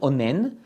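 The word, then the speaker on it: אונן: call him in Hebrew onen in English it's probably will be the pronunciation will be o n n onen which means again a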